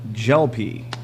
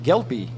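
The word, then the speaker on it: Gelpi: It's gel pea. Like you put in good your to hair. know. Gel pea. I'll try to get that right from now on, sir. Yesterday I mispronounced that all game, called him Gelpy. So appreciate that. Gel pea. The gel you put in the hair and the green vegetable combined.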